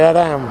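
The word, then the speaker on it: Edam: It's spelled E-D-A-M, and I can never say it right. No, what is it? I don't even know what it is in English. And in Castellano, and I don't say it like them. No, so I know. I point to the cheese, and it's that one. So I don't have to do this again. And I can never say it right. Hate them, they say Adam.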